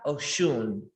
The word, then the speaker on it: Osun: about a goddess and her name is orisa ochoon and people spell it sometimes osun o s u n